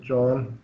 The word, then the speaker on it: Jno: is the guy that spelled his name jno and pronounce it john right claims that jupiter